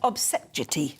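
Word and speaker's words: Obese-Jecty: Let's speak to Conservative columnist Ben Obsejeti. No, I've not said it right. You got it right. Did I get it right? Obsejeti.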